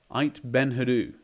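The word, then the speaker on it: Aït Benhaddou: actually in the town of no forgive my pronunciation here it ait ben hadu ait ben hadoo there we go so yeah got that right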